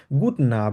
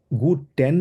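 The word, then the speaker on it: guten: এন্ড গুড না এন্ড গুড টেন normally জার্মানে বলে না তবে আপনি যদি গুড টেন বলেন কোন সমস্যা নাই সেটা পুরোপুরিভাবে কারেক্ট তবে উচ্চারণের দিক থেকে আমরা চেষ্টা করব একদম এক্সাক্টলি জার্মানে যেভাবে বলে 100% ওভাবে প্রোনাউন্সটা করার জন্য তাহলে আমরা কিভাবে বলবো গুডন ঠিক আছে গুডন ওকে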